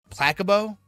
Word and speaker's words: placebo: Placebo? The stress is on the middle syllable.